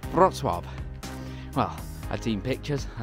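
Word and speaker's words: Wrocław: what do you mean by rock claw where is that place so i wrote it down on a piece of paper for them and they showed me the correct way to pronounce the word which was brock well i'd seen pictures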